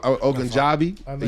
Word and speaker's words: Ogunjobi: Ogunjobi.